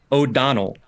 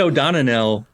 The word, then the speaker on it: O'Donnell: But yeah, O'Donnell. Yep, that's it. Yep. Okay. I said O'Donnell because I added an extra syllable in there.